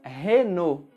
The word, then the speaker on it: Renault: Assim como a anterior, essa também mantemos mais ou menos a mesma pronúncia original. Nós falamos Renault.